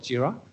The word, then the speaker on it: Jira: engineer's mind so anyway they always pronounce gyro and we kind of have to subtly correct them that's called JIRA anyway so always I